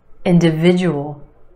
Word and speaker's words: individual: no Benna Benna benefit individual individual five syllables in this word emphasis on the third syllable that it is sound individual individual the second syllable is where you have the schwa the end and individual individual try this one analysis